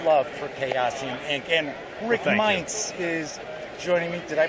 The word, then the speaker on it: Meints: And Rick Meints is joining me. Did I pronounce it correctly?